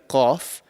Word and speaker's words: qaf: kaf that we discussed, which is a lighter kaf, it's almost like a K in English. But this particular qaf is very thick. So we have to be very, very careful in when we pronounce this letter.